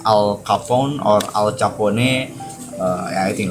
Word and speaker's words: Al Capone: I don't know cara pronounce Al Capone or Al Capone.